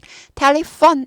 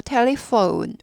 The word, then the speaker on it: telephone: 그 다음에 O가 아니라 OU 발음 나요. 영어는 O가 아니라 OU라고 그래요. OPQR 아니고 OPQR, OU, U가 꼭 들려야 돼요. 아까 E가 들려야 되듯이 여기도 OU가 들려야 돼요. 그래서 telephone 아니고 telephone, U까지 꼭 하세요.